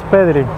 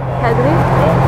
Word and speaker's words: Pedri: Pedri. Oh, that was perfect. Okay. I speak Polish. So. Okay. So you're good pronunciating the R, right?